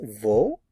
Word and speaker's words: wo: is v v v notice the pronunciation of the w v v let's look